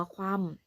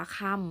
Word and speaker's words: คว่ำ: บาง อ่ะ คำ ว่า คว่ำ คำ นี้ นะ คะ ไม่ อ่าน ว่า ข้าม ไม่ อ่าน แบบ นี้